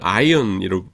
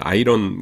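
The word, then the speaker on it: iron: 근데 원래는 아이언인데 근데 그 이제 펴준 바람이 발음이 아니죠. 바로에는 아이언이 발음해야지 아이런 그러면 안 됩니다.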